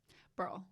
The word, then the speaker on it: Burrill: Burrill. We never actually covered that. Right, one syllable. Burrill. Like, Burrill.